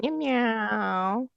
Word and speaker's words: Mimieux: Yes, it's starring Yvette Mimieux. Mew mew. Is that how you say it? Mimieux. Meow meow. It's Yvette Mimieux.